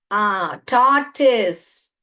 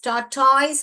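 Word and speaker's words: tortoise: டார்டிஸ். டார்டிஸ். டார்டாய்ஸ் pronounce பண்ணக்கூடாது, டார்டிஸ்ன்னு pronounce பண்ணணும்.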